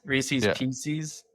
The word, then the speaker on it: Reese's Pieces: It is Reese's Pieces, first of all, because it rhymes and you know it rhymes and you did it anyways.